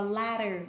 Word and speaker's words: latter: Trong tiếng Anh đặc biệt với chữ T, chúng ta có hai cách đọc.